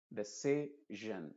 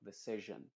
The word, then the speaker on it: decision: Y lo mismo pasa en palabras que terminan en sion. La si funciona como una SH o como una Y. Y la O se pronuncia como una schwa. Es decir, la I no está ahí. Solamente la O. Y ahí se está pronunciando como decision, por ejemplo. Decision. No es decision, sino decision.